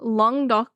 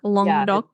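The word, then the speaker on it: Languedoc: oh cool okay so long do you don't say like the middle part so it's just like long do go through it yeah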